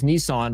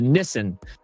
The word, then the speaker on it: Nissan: Americans often pronounce Nissan as Nissan while Japanese pronunciation is closer to Nissen with the emphasis on the first syllable.